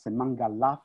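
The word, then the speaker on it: Semangelof: So we have here a way, a key to pronounce them as Sanoi, San Sanoi, Semangalaf, and Semengalon.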